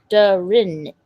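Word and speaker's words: durian: It's pronounced Darin.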